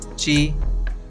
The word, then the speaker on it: ち: In this lesson, we learn hiragana characters ta, chi, tsu, te, to. Notice that the ti syllable becomes chi and tu syllable becomes tsu.